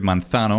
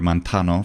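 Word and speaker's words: μανθάνω: The Greek word manthano, or mantano, for an even more ancient pronunciation, means I learn.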